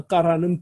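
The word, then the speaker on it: קרא: 이것도 까라로 부르다라고 하는, 아싸는 만들다, 행하다, 만들다, 까라는 부르다, 소리내어 읽다 이런 뜻인데, 자, 까라 하고 알레프는 무궁화 됐고, 그죠?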